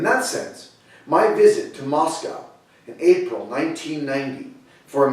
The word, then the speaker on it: Moscow: I said only half-jokingly at the time that Moscow, pronounced in English, sounds similar to must go, and so I had to go.